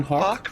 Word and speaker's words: hawk: with walk what walking Hawk runs with walk walk that's right man I was thinking